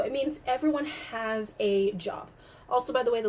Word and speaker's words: Job: a y um but job is an american word so they pronounce it in the american english pronunciation so ich habe langavila